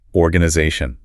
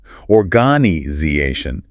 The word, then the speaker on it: organization: How about conversation counter stress on essay organization organization stress on za?